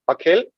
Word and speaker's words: Akhil: yeah sure uh so my name is akhil that's how it's pronounced I currently work for